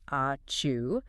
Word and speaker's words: ačiū: You should learn to say ačiū, pronounced a-choo, which means thank you.